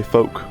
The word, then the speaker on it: folk: clearly but then folk I say folk with no l even though there's an L in the word that's weird that's inconsistent